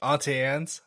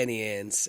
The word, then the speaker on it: Auntie Anne's: I say Annie Ann's, and I'm sure that that's not the right way to say it. You I guys don't are know. probably saying it right. I don't know. Is it so? I've heard some people called it Auntie Annie's, and I'm like, that's not right.